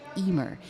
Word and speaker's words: Eimear: So Emer is spelt EIMEAR in Irish, in the Irish language, and EIM stands for Emotionally Intelligent Model.